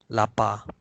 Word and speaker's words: lapar: Lapar. But in spoken Malay, we make it silent. We don't pronounce the R.